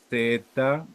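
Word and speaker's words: זה: lo tengo que transliterar se pronuncia Z e H no Z es una Z que suena como la abejita que huela quiere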